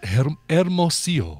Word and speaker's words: Hermosillo: I would say Hermosillo. Ah, look at you with the fancy deal. Yes, well, Randy's not here. No. Scott, that would be pronounced Hermosillo.